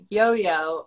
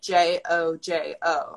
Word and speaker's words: Jojo: well actually it's and then my nickname yo-yo is spelt j-o-j-o so that's why most people think it's pronounced